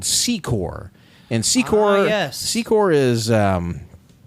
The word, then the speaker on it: Secor: And there's a different part of Ronoke that its own township and it's called Secore.